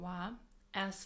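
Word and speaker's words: は: as you can see we write it as but we pronounce it as a particle as wa W very good so what is particle wa particle W is a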